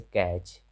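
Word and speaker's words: catch: तो जब किसी वर्ड के अंत में टी ई एन रहे या टी सी एच रहे, ऐसी स्थिति में टी का उच्चारण नहीं होता है, जैसे कैच, लास्ट में टी सी एच है।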